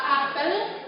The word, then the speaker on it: apel: Apel yang pertama itu mengatakan buah, itu pelafalan fonemnya yaitu pada huruf E itu dilafalkan dengan pepet, sementara apel yang kedua pelafalannya pada fonem E-nya itu lebih terang dan bermakna upacara. Jadi antara apel sama apel itu pelafalannya, penulisannya sama, tapi pelafalannya berbeda pada fonemnya.